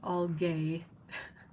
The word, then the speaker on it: algae: It's one of those words that really bother me because it's written as if it should be said algae because it's Algae, right? But I think I've always heard it as algae, which is annoying because